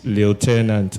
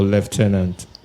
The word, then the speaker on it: lieutenant: flight okay f lt flight the lt is lieutenant or lieutenant okay okay all right then the last one